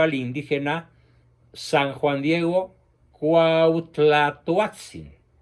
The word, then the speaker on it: Cuauhtlatoatzin: indígena san juan diego cuauhtlatoatzin repito la pronunciación muy difícil de la uat cuauhtlatoatzin quien no había sido bautizado